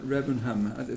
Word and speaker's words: Remenham: So let's jump in with your poem, Jane, at Remenham. That's how you pronounce At Remenham, it. yes. Remenham.